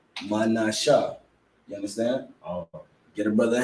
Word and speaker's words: Manasseh: You ain't gotta add the ha at the end because the shah, you see the connector. You understand? That's why he put the connector there, because you drop the a at the end of the ha. You understand? So you pronounce it manasha.